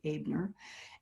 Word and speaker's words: Abner: It's pronounced like the German way. The E is pronounced A, Abner.